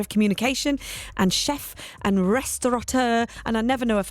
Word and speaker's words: restaurateur: Restaurateur. That's it. I always feel like I want to put the N in there, and it hasn't got an N in there.